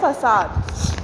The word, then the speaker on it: facade: ये है फसाद। क्या है? फसाद। इसकी स्पेलिंग और इसकी प्रोनाउंसिएशन में थोड़ा डिफरेंस है, तो आप इसकी स्पेलिंग लर्न करिए, FACADE, फसाद। दोबारा से, FACADE, फसाद।